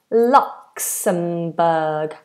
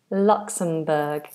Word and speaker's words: Luxembourg: Obviously this has um a difficult ending but we just do a nice nice sound. Luxmbberg. Lockberg. Luxembourg.